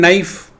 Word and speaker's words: knife: silent in psychology then K is silent in knife right then in wife